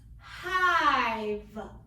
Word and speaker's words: hive: Next one, 2 vowels, I and E. First vowel is long. Second vowel is silent. Word is hive.